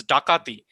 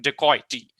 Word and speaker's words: dacoit: It's dakati. From dakati, so in the British pronunciation, it became dacoity, and then it found its way to the dictionary or thesauruses as dacoits.